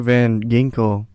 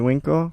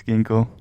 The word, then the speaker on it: Van Ginkel: let's not forget andrew van ginkel winkle as it winkle no it's ginkgo you pronounce the g with a w andrew van winkle looks